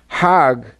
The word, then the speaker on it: Hajj: around the circles now Hajj is a pilgrimage hogg is the Egyptian pronunciation hug in Hebrew means